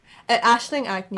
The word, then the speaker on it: Aisling Agnew: do you pronounce her name? Scottish. Aisling Agnew.